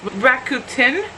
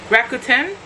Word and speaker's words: Rakuten: this thing it's called keep forgetting how it's pronounced Rakuten Rakuten Rakuten rack Q10 anyways I've been doing it for